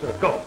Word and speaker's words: golf: Oh you mean golf well it's pronounced golf you leave the AL out what the hell was it put in for then I um I